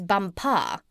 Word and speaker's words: Bumpar: She became his chief wife, and is now known out there as the Crown Princess Bumpar. You accent the last syllable."